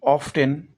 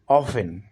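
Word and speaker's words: often: অফেন কে পড়তে গেলে এটাকে অনেকেই অফটেন উচ্চারণ করতে পারেন। কিন্তু এর সঠিক উচ্চারণ হবে অফেন।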